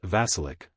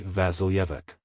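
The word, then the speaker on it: Vasilyevich: Yik kotelnikov reminded him pronouncing it not vasilic but fully vasilik and this pronunciation was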